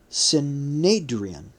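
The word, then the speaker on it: synedrion: military counil sorry sorry that's pronounced sadrian spelled in the transliteration s y n d r i o n sadrian uh I don't know if that's the same pronunciation as Sanhedrin um let us know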